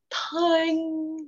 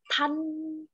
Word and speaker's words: thành: Rồi, nhớ nha, cái chỗ mà những cái chỗ phát âm á, ví dụ như chữ thành nó không phải là thành mà là thênh, chứ không phải là thanh mà là thênh.